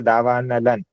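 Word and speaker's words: दावानलं: करते हैं ना इसमें जैसे ला के ऊपर बिंदी है तो उसका उच्चारण जैसे मैंने किया देखो दावा नलन न उच्चारण होता है अपन ने एक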